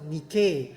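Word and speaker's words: Νίκη: ม ั ้ ง In Greek, it pronounced Nike.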